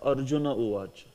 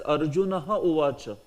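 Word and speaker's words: अर्जुन उवाच: And you will also pronounce it as Arjuna uvacha. If you say this as Arjunaha uvacha, that is not good, because sandhi has been made already.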